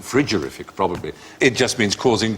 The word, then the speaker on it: frigorific: should pronounce yes cold should pronounce it frigorific probably it just means